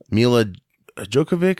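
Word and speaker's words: Milla Jovovich: can't do a lot of stunts you know me lad Joe Kovac is how you say her name from the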